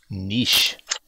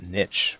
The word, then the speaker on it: niche: do law is mispronounce nish to come up if it comes up make sure you pronounce it niche because that's the American pronunciation Jackie says I think